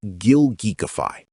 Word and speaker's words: gilgeekify: It should have said gilgeekify.